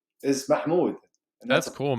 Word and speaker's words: Mahmoud: I'm pretty sure I put, but even on social media, as of recent, my real name is Mahmoud, Yeah, pronounced by most people as Mahmoud.